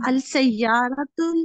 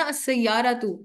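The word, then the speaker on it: السيارات: अब ये देखें प्रोनाउंसिएशन जो है ना, अरबी ग्रामर सीखते हुए हमें अंदाजा हो जाना चाहिए कि अलिफ, खड़ी जबर, इन की साउंड्स कितनी मैटर करती है।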